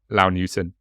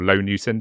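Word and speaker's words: Low Newton: to to hm um LA newon or L newon sorry I think I yeah I don't know why I pronounce that as La it's definitely low um a category a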